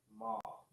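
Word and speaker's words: מה: right okay but here Ma and ha is pronounced ma as in why yes question um looking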